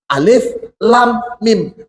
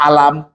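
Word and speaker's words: الم: hurufnya sama hurufnya sama-sama alif lam mim Tapi yang di awal Baqarah Rasulullah menyebutkan Alif Lam Mim jadi seperti ini baca Jangan dibaca alam kemudian alam Nas bacanya alam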